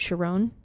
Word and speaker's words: Chiron: The character's name is, I believe that he pronounces it Sharon, if I'm not mistaken.